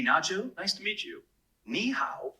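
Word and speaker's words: 你好: nice to meet you niow is pretty straightforward to pronounce it sounds like ni how just make sure that keep the knee part high and then go down and pitch on the how give it a try knee how that was great really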